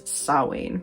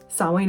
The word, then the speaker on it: Samhain: a lot of us tend to pronounce it as saowin and overall sawwan is a celtic holiday